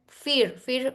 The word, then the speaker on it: FHIR: This HL7 FEAR is the pronunciation. HLR FEAR, that is FHIR.